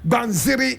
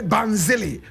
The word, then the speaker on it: Banziri: Some people say Banzili. Banzili. But correct pronunciation is Banziri.